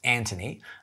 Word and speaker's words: Anthony: friends aunt Renee Dulany he's gonna tell you it's pronounced Antony which is a clue as to where he's from one of my good